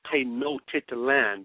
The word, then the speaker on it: Tenochtitlan: They pronounce it Tenochtitlan, but it's spelled T-E-N-O-C-H, Enoch, to Enoch, Titlan.